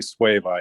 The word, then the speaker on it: suevite: it's called what i've i've heard it pronounced suevite but i'm probably butchering it oh yeah i i thought it was that too because that's the spelling but then i heard someone say sway bye i'm like oh okay